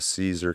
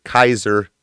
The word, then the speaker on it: Caesar: If you want to read about those civil wars, that transitions eventually to Caesar. Kaiser is how it's pronounced, by the way.